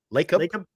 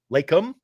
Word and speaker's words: Lacob: Lacob. Lacob.